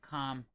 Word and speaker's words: calm: It's like calm. You don't have to say calm and you don't have to say Huff.